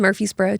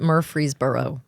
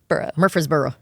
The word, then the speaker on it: Murfreesboro: it very well I've gotten better about it Murphy's Borough Murphree it is spelled bizarrely very hard to say people murder free Murfreesboro um so we went and it was his